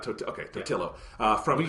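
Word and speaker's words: Totilo: Okay, Totillo. From when you say Totilio, it sounds like a pizza roll brand or something like Tostino's.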